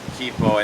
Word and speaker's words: Kipo: my previous video i have been pronouncing kaipo all wrong it's actually kippo and the age of